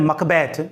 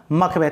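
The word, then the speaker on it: Macbeth: वो स्कॉटलैंड में, और स्कॉटलैंड में जो है इसको बोलते हैं मकबैथ। तो ज़्यादा करेक्ट प्रोनाउंसिएशन क्या हो गया? मकबैथ।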